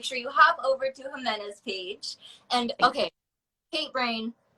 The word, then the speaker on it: Jimena: you hop over to jimena's page and okay paint brain J in Spanish is pronounced h in English yes pretty much yeah